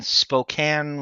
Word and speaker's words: Spokane: The whole that was shot in Spokane, Washington. yes, you pronounced it correct.